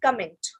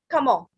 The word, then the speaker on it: comment: In English we say it comment, right? In French we say comment, comment, comment, and it means how.